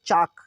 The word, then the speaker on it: chalk: Next है CHALK चाक, चाक, चाक के पहले देखिए K के पहले L आया है, K के पहले L तो L साइलेंट हो गया।